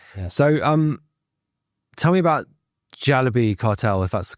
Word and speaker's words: Jalebi Cartel: So, um Tell me about Jalebi Cartel, if that's the correct pronunciation. Yeah, Jalebi Cartel.